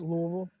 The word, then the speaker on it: Louisville: It's pronounced Louisville. Louisville.